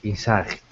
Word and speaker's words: in sight: you pronounce them inight Insight it's pretty close the first one in sight the second one Insight first one has second syllable stress the second word has